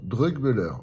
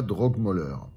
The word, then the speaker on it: Drögmöller: de Stuttgart voilà alors pourquoi drog mur et pas drog mer un petit cours d'allem rapide le O avec un umlaout se prononce e en allemand donc on va pas les insulter on va les appeler par leur nom drugber et non pas drog mer voilà donc je vais